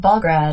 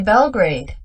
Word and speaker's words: Belgrade: In this video, the word Belgrade is mispronounced. It is actually Belgrade. Belgrade.